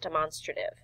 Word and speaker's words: demonstrative: care is less demonstrative you can think demonstrate but we pronounce it demonstrative open exhibition or expression